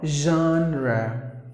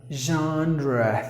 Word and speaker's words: genre: John don't do that it is Jean or genre genre that's the way you have to pronounce what the definition of the word is